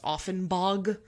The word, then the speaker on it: Augenbaugh: I know that we have a street in Alameda called Augenbaugh, but it's like actually pronounced Offenbog.